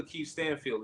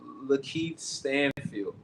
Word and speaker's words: Lakeith Stanfield: Now it's gonna So wait, 3 times button like so you know who Lakeith Stanfield is, right? no. I'm not saying his name wrong.